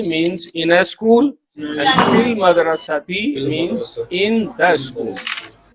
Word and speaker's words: في المدرسة: And Hamza will not be pronounced because Hamza is Hamzatul Wasl.